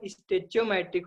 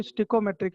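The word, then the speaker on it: stoichiometric: नहीं, डिक्शनरी में देखोगे तो स्टिकोमेट्रिक इसका प्रोनाउंसिएशन है। गूगल करना, इस नाम को डाल के देखना, है ना। ठीक है। स्टिको भी नहीं होगा, स्टिकोमेट्रिक है, मतलब ई आई नहीं आता वहां पे, ई आता है, तो मैं उसको आसान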